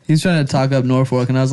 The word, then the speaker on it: Norfolk: It's Norfolk. Norfolk? yeah, fork. Like the It's utensil. fork? Yeah. Oh, there's no L?